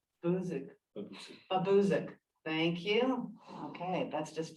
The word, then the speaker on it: Babosic: bridge replacement, Eels Road over, oh my goodness, Babosic Brook. I hope, Jillian, I said that right. Buzik. Babuzik.